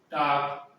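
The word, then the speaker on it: talk: के से पहले एल हो तो सामान्यतः एल साइलेंट रहता है। ठीक है, जैसे कि टाक, वाक, टाक वाक, सब एक टाक मान बात करना, वाक मान टहलना है, चलना।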